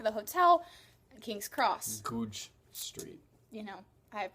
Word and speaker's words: Goodge: places, I only knew how to get to Goodge Street, which was our stop for the hotel, and King's Cross. Goodge Street. You know, I have my priorities. Goodge Street. Goodge Street. Goodge Street. Goodge Street. What? Goodge.